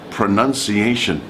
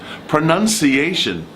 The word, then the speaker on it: pronunciation: a difficult one particularly and the last one is pronunciation pronunciation if you can pronounce the word pronunciation your